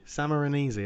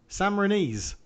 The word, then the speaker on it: Sammarinese: Salmon, Sama, salmon, Sa, salmon, Samarinese, I think is how you'd pronounce it. like Mauro Camoranesi. Yeah, yeah. Sammarinese.